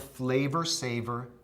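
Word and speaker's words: Flavr Savr: It was called the Flavor Saver tomato. That's spelled F-L-A-V-R S-A-V-R, Flavor Saver.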